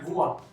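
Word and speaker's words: voix: कैसे प्रोनाउंस करना है, वुआ, वी ओ आई इज वुआ, तो वुआ, एक्स साइलेंट रहेगा, वुआ मींस आवाज, वॉइस इंग्लिश में होती है वॉइस।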